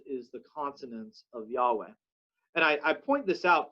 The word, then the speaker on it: Yahweh: they would read the the y would become a j and with the vowel points of adonai but the words and consonants of yahweh you got jehovah which became a mispronunciation but the other common